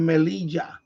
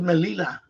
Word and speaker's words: Melilla: I never noticed a double L until I really looked at it. I said, "Oh yeah, double L." No wonder. I thought it was Melilla. So it's Melilla. Yeah, I forgot because double L is pronounced as like a J in English.